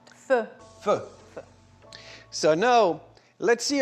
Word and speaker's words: pho: So instead of pot au feu, which means pot on the fire, they call it pho. All right, and that's how you pronounce it. Pho.